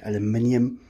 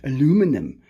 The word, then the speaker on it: aluminium: Yeah, in America they call it aluminum. In South Africa we call it aluminium. And in Afrikaans it's aluminium. So it's basically the same thing, you just pronounce it different.